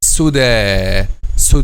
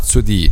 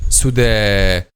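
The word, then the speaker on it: سدى: Okay, the last suda, not sudi. No, suda. Why it will be pronounced like alif? Because it doesn't have its dots.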